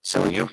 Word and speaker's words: Seljuk: Seljuk. S-E-L-J-U-K. My mistake pronouncing that.